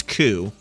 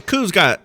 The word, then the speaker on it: coup: to lead a coup, but the coup's it's got a P at the end of it, right? So he's like, the voice actor pronounces the P, he's like, "You've got to stop the coup," which is kind of